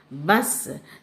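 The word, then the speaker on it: बस: ஒன் இஸ் ப ச பஸ் C last letter is சோ யூ shouldுட் says is ப இஸ் பஸ் ப ச பஸ் திஸ் ஒன் இஸ்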